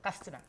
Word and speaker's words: Katsina: From Yes, that's Castina. correct. That's how it's pronounced. Castina.